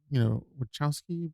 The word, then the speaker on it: Wachowski: I mean, it was written by, Wachowski brothers. Is that how you pronounce it? Wachowski brothers? Yeah.